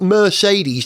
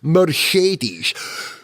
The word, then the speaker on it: Mercedes: But the thing that Tycho and I were laughing about is the consistent way in which Paul di Resta pronounces the word Mercedes. It's full Sean Connery. It's not Mercedes to him, it's Mercedes. Mercedes.